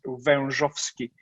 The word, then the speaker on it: Wezowski: born in poland and my last name is quite hard to pronounce it's verndovsky forget it so i wanted